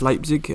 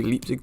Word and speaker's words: Leipzig: hoffenheim and one against leipzig uh make sure you forgive me if i do say leaps throughout this because uh that's just the way i've always said it wrong but um yeah we're